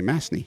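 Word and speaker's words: Masney: you say your last name how do you spell that m-a-s-n-e-y m-a-s-n-e-y mastney yes makes sense yes can i call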